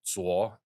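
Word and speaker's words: 左: But TSO, they pronounce it Sao, but it's in Mandarin, it's pronounced Zuo.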